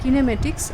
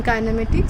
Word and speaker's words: kinematics: And another way of pronouncing it is kinematics. I'm more comfortable with the pronunciation kinematics.